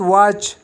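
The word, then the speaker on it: watch: اگزامپل کې لرو واچ. واچ کې دلته ټي نه تلفظ کېږي، فقط واچ.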